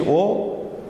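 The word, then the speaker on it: ओ: O is like English O, and something like in English we say go, word like go, stone, etc.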